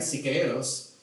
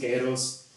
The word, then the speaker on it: Siqueiros: take this journey to Italy with his friend Siqueiros, which is the guy on the right there.